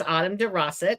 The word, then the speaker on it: Autumn DeRossett: And my guest today is Autumn DeRossett.